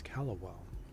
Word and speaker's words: Callowell: Oh, my character's mispronouncing his last name. It's Callowell.